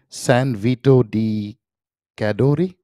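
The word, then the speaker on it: San Vito di Cadore: of greenwich correct me if i get this pronunciation right is the town is it san vito di cadori have i said it right yeah yes perfect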